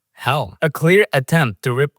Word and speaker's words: Hel: And the villain of the film, Hel, spelled without an A. Instead of Hela, Hell.